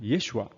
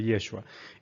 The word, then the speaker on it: Yeshua: que así le llaman yeshua es la pronunciación correcta la pronunciación original del nombre Jesús Jesús evidentemente ya es